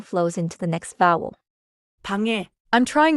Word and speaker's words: 방: So the mistake is like saying 사랑그, 공그, 방그. Right. The fix is to end inside the syllable. 사랑, 공, 방.